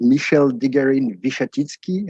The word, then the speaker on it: Michele de Garine-Wichatitsky: the introduction and you did very well in pronouncing my very complicated name so my name is michelle digarin vishatitsky as you said i'm french but i'm currently